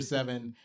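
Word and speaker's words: Se7en: I say seven that they replace the V with the number seven it's pronounced seven it's weird and though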